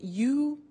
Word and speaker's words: used: Now, this verb, used to, well, it's written U-S-E-D, but the pronunciation is used, and we'll see that on the screen later.